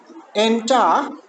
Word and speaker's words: enter: Normally the second one was to be stressed. Enter, but second one has a schwa and no coda 2, so it is the weakest. So the first one is strong, that is why we have this as what? We have this as stressed. The first one as stressed.